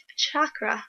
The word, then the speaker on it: chakra: strong Crown chakra um chakra I learned it to pronounced that way from cute witch the other day chakra